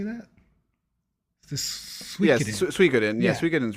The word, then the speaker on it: Suikoden: Yes, Suikoden.